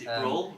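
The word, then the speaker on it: Brühl: Forgive me if I don't pronounce his. Bruhl? Yeah, Bruhl.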